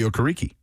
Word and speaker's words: Okereke: What about Bobby Okereke?